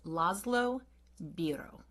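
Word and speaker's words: László Bíró: I think we I looked up some phonetic things and I think his name is Llo Bro.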